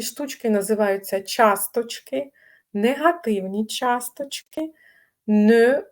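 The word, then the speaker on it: ne: У французів ще теж є не, тільки читається н, як в слові льон.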